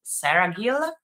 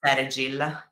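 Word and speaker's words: Seregil: So like Alec, and I think the right pronunciation is like Saragil. Saragil. Yeah, but in Italian we say Saragil.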